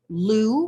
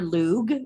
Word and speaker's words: Lugh: from uh this is named for the Irish God Lou or lug it's pronounced both ways uh this is a